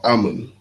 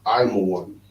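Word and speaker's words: עמון: Japanese are Ammon in the Bible. Sons of Lot, just as Mawa'aba, just as Moab, the Chinese. Mhm. And how you say their name in Hebrew is I'm a one.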